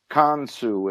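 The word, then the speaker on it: Khonsu: a band I believe they're Japanese they're called con su it's spelled KH o n su and they're avant-garde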